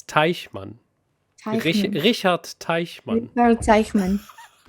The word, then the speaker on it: Teichmann: I don't know where I heard that quote from, but some guy named Richard Takeman.